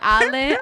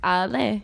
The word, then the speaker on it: Ale: you guys spoiled alec that's awesome but you spell it a-l-e that's it a lot of white people call me ale but no it's a lay that's the [ __